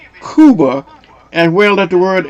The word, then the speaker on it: Cuba: K U B-a Kuba is correct, but in English it is referred to as Cuba. Okay. So, it's still Yeah, it's Kuba, what you were just saying, but in English we pronounce it Cuba.